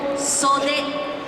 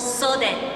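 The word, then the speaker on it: 袖: This is called sode. It's spelled like soda, but it's not soda. It's called sode.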